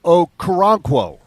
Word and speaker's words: Okoronkwo: And his name is Ogbo Okoronkwo.